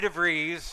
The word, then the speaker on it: DeVries: of trustee treasurer Vickie DeVries rhymes with cheese they've reached out to